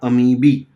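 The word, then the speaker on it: amoebae: है मुझे पता है दज आर अमीबी ठीक है प्रोनंसिएशन याद रखना लेकिन आपको अमीबे बोलना है तो बोल दो यार कोई फर्क नहीं बढता स्पेलिंग याद रहना चाहिए बस ठीक है इनकी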